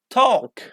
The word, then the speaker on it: talk: For example, if you see L after A, like walk, like long or walk, okay? Talk or bulk. So L isn't pronounced.